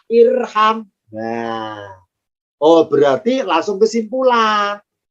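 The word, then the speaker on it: ارحم: Kalau huruf ketiganya fathah, alifnya tidak ikutan fathah, tapi tetap kasroh. Maka bacanya irham.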